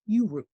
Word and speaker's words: UERU: It's UERO, Undergraduate Education Research Universities, pronounced URU.